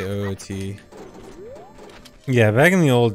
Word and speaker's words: OoT: amount of new stuff how do I pronounce OT I say oot yeah back in the